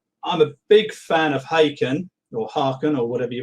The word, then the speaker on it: Haken: And yes, I think they say Haken as in bacon, isn't that what they say?